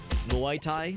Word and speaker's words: Muay Thai: Or not it's not Mai Tai, it's how do you pronounce? I've never heard that word pronounced. It's the martial arts. Muay Thai, I think is how you pronounce it.